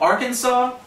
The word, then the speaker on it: Arkansas: And it's not pronounced the way it looks.